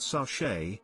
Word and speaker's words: sachet: earl grey i mumble do they have sachets pronouncing it sashay edit have been alerted